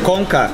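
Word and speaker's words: Konka: Komka.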